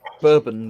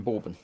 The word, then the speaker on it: bourbon: same yeah yeah but this is bourbon rather than bourbon in it because they're they're said differently although they spelt the same that's a yes apparently